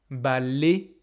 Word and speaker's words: balai: Par exemple, balai, palais, pour moi, ils ne sont pas prononcés comme ça. Ils sont prononcés comme é.